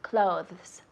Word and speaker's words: clothes: Eso es un poco difícil con la pronunciación. Decimos clothes, clothes.